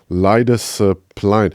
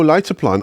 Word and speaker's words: Leidseplein: tell people like, hey, where's Leidesplein? Oh, Leidseplein. Oh, it's like.